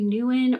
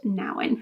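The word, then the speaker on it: Nouwen: search for God by Henry Nan I was pronouncing his name Henry Newan or hre Newan in earlier videos and I have since learned that his name is pronounced Nan Henry Nan I ended up giving this four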